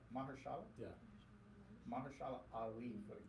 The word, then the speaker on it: Mahershala: Mahershala. Mahershala.